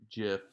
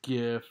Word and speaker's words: GIF: gem just gin so it's called a soft g kinda like jiff like the peanut butter but jiffy cat so